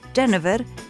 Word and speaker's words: genever: una planta supremamente aromática en francés se pronuncia genev en holandés genever y de ahí entonces